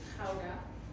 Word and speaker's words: Gouda: It's not Gouda, but I will give you to say it like that. It's kind of like a fly stuck in your throat and you're trying to get it out.